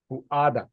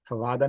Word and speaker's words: فؤاد: ان السمع، بے شک سماعت، والبصر اور بصارت، والفؤاد اور دل، فؤاد فوادہ نہیں، فؤاد دل، اور اسی کی جمع ہے افئدہ.